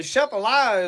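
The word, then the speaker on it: Atchafalaya: No, the shephilia is the way that's pronounced. The shephilia basin down there cuz you watch swamp people and they'll call it the achafalia basin.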